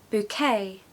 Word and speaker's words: bouquet: an example of that the first syllable is buo okay buo as in b o buo and the second syllable is K okay so just forget the T on the end okay I want it to just be K bouquet the stress falls on the second syllable okay so make sure it has that kind of goes up like that bouquet and I bought